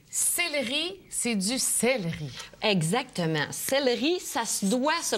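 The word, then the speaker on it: céleri: u au u céi c'est du celleri exactement celleri ça se doit se prononcer toujours celleri et c'est normal quand la syllabe qui suit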